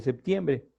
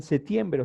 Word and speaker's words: septiembre: que sería 21 de septiembre y es más allá le llaman setiembre o sea le quitan la p como que no la pronuncia vale entonces para nosotros